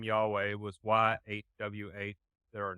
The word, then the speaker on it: Yahweh: but when you get into that's how you pronounce the name Yahweh say his name whole life you get life